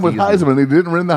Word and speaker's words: Theismann: He It's changed it Joe to rhyme with Theismann.